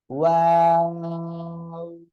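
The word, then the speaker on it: واو: এ অক্ষরটাও দুই ঠোঁট থেকে উচ্চারণ হবে, আর এ অক্ষরটা দুই ঠোঁট গোল হবে, প্রথমেও গোল শেষেও গোল হবে, মাঝখানে শুধু দুই দিকে দুই ঠোঁট চলে যাবে। ওয়াও, ওয়াও।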